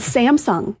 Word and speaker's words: Samsung: First on the list, though, is Samsung. And I can't figure out, how are people saying Samsung wrong? Samsung. Samsung. Okay. So Samsung. The wrong emphasis on the wrong syllable.